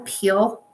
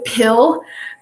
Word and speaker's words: pill: that's not going to peel. You know what I mean by pill. Yeah. I said, yeah, I always say it wrong. It's my Idahoan accent coming out. To pill, because it'll leave like